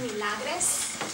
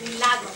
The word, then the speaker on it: Milagres: Like I stated earlier, if you go to Milagres, which is the way her name is spelled, M-I-L-A-G-R-E-S, instead of Milagros, Santiago, you're going to see that she has only $2,150.